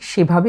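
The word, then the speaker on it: ثاء: লক্ষণীয় বিষয় হচ্ছে বর্ণটি অত্যন্ত সফট কিংবা পাতলা করে উচ্চারণ করতে হবে।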